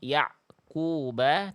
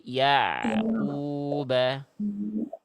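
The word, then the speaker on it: يعقوب: Seharusnya bunyi ain dengan qof tak boleh ada jedah hening, jeda berhenti. Jadi dibacanya bukan yaquba tapi yaquba waa ali yaquba gitu ya.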